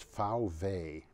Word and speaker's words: VW: Volkswagen, or as they say, VW, which in German is VW, because a V is pronounced like an F, and a W is pronounced like a V.